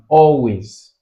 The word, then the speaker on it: always: But when you look at reproduce, always, see, always, you have it on the first, you have it on all, you have it on all, always.